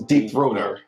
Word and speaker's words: Deep Throat Her: And it's spelled her at the end. So, but when you put together, it's Deep Throater.